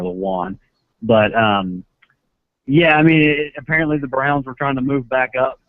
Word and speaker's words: Lewan: Yeah, I mean, it became, I guess, pretty evident that Lewin was their guy. That's how you say his name. I don't know if it's Lewin or Lewan.